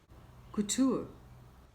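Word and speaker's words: couture: कुटूर, fashionable कपड़ों का निर्माण, कुटूर, कुटूर।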